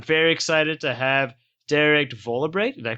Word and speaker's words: Vollebregt: this episode, I'm very excited to have Derek Vollebregt. Did I pronounce that right? That's close enough. How do you pronounce it? Vollebregt. Yeah, Vollebregt. I actually pronounced it G. Oh, okay. Yeah. So Derek Vollebregt, who is the founder of the Global Shuffle podcast.